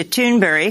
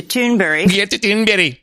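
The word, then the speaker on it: Thunberg: sixteen-year-old swedish climate activist school strike leader greta tuneberry who was invited by democrats to a meeting of the senate climate crisis she the official pronunciation swedish climate activist school strike leader great to toonberry okay i can do this now and people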